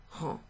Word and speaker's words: rends: Okay, so the first two have an S at the end, but they're pronounced rend, rend.